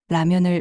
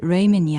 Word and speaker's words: 라면: 김밥을 주문하고 라면을 레이멘이 아니라 라면이라고 불러야 한다며 부모님의 발음을 고쳐주기도 했죠.